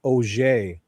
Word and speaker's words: Auger: Okay, so Rosie, and she sounds like a bottle of French, Miss Auger.